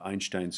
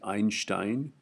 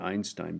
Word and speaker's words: Einstein: I'm going to uh talk a little bit about uh Einstein's photo photon theory. Okay. Um and I pronounce it Einstein rather than Einstein because that's how you pronounce Einstein. Okay. It's a German name.